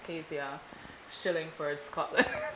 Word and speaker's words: Kazia Shillingford Scotland: want people to remember when they think of Kazia, Shillingford, Scotland?